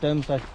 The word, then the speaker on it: Domesday: And then no, it's pronounced Domesday.